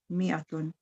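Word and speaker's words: مائة: Number 5, mi'atun, 100, alfun, 1,000. Note that in mi'atun, the alif is not pronounced. It is pronounced mi'atun.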